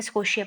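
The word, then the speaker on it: Scotia: स्को शिया स्कोटिया का जो स्को शिया एस सीओ टी आई ये लिखते हैं इसको ठीक है स्को शिया प्रोनाउंस करेंगे तो कनाडा का जो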